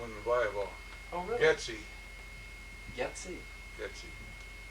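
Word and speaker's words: Geczi: Getsy. Getsy. Getsy. How would you spell that? Now, the Americanized version is G-E-T-S-Y, but the real Hungarian spelling is G-E-C-Z-I.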